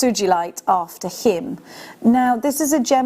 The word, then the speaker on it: Sugilite: I bring to you Sugilite, which I've always pronounced it Sugilite, but it's Sugilite. I've just been told and I've just looked up.